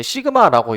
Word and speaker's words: 시그마: 자, 이거는 이제 시그마라고 이제 읽는데요. 시그마.